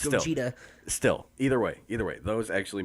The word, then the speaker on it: Gogeta: it's pronounced Gogeta.